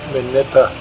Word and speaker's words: Minipa: Heading west from Wudinna on the Eyre Highway, one comes to Minipa, that's how you say it, and to the north is the Yandinga ranges, which are quite spectacular.